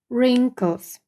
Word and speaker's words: wrinkles: you have got wrinkles Зверніть увагу на вимову w не вимовляється wrinkles якщо є борода або